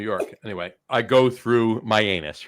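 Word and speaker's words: Mianus: it's it's so now it's pronounced myanus right that's what it's pronounced but you can't help but say myanus right you can't help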